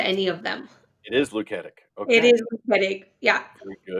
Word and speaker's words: Luketic: it is Luketic.